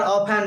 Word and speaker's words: often: The rich are ऑफन seen to be unhappy, अमीरों को अक्सर, ऑफन मतलब OFTEN जो है, टी साइलेंट है तो ऑफन देखा गया है क्या, नाखुश देखा गया है, अनहैप्पी देखा गया है।